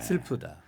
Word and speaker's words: 슬프다: 슬프다. 네, 슬프다. 이렇게 우로 발음하시는 거고요.